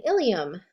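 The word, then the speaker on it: ileum: The two words that they give us are ilium and ilium. They are pronounced the same, but they're spelled differently, and they definitely have different meanings.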